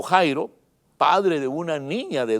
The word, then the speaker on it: Jairo: nombre jairo que quiere se escribe a ir a algunos lo pronuncian ya ir a ir o jairo padre de una niña